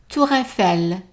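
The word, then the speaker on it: hôtel: perect perfect Alo bourel remember the H is silent Hotel toel let's do it again hello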